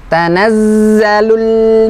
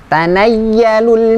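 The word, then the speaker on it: تَنَزَّلُ: Mengucapkan zain jangan seperti mengucapkan huruf ya. Jangan seperti huruf ya. Tanayyalul mala, karena masih ada kita dapati ketika membaca zain berubah menjadi huruf ya.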